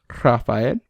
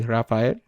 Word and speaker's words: Rafael: I grew up in a Spanish-speaking household, so you would pronounce that as Rafael. Without a roll, it'd just be Rafael.